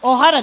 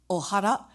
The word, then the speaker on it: Ohara: He had a show in the 80s called Ohara, but everybody pronounced it O'Hara.